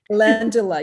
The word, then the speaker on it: Calendula: Calendula. Calendula, yeah, that has UV protection properties.